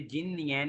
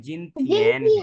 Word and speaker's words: 今天: ये जिननियन नहीं है, जिनथियन है।